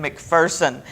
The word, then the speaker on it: McPherson: corrected visitors you know there's no fear in McPherson and so people who would come in and pronounce it McPherson would quickly be corrected and I just love